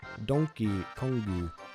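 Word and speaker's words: ドンキーコング: a bootleg version of how Donkey Kong is pronounced in Japanese. Donkey Kongu, the Super Nintendo, home of some of the best, or rather most super RPGs, platformers, and adventure games ever made.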